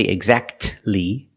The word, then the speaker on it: exactly: The T is silent when it's between consonants. Examples: Exactly. Christmas. We see the T is between consonants, so we don't pronounce it. You don't say exactly.